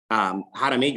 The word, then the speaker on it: Jaramillo: Jaramillo is how you say my last name, but Jimmy J or Jimmy Jaramillo is just easier.